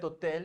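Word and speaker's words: hôtel: Because you know Webber, we don't pronounce H, so we end up speaking the O. So cet hotel means this hotel, that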